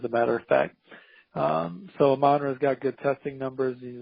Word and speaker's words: Amon-Ra: So it's Amon-Ra, AMON-R-A. It's pronounced Amon-Ra? That's what I've been saying.